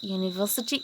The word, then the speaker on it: university: Because university is pronounced as U.